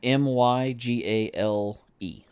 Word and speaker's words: Mygale: Um m y g a l e. Woof. Okay. So, Mygale or something. Mygale. Yeah. Yeah, it's it's pronounced I ran it through the uh the the English to French.